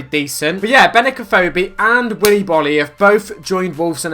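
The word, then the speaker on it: Willy Boly: So Willy Bolly is how you pronounce it.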